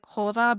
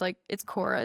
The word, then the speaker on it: khōra: This idea of like, it's like khōra, but it's khōra. It's spelled KHORA.